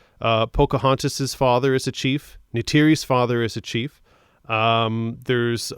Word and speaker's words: Neytiri: Jake Sully begins exploring, finds, I'm horrible with pronouncing, Neytiri, I believe it's pronounced.